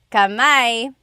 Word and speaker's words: kamay: Kamay. How do you say hands? Is kamay correct? Yes. Going bananas. You got it. Mga kamay. So kamay is hand. one hand kamay but if I want to